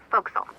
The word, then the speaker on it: forecastle: forward deck of a sailing ship but it's pronounced focus off why is that try pronouncing it like an